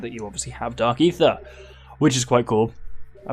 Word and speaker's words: Aether: first played this game, I did not know how to pronounce Aether, and I pronounced it Aether, because it has an A, which is just E.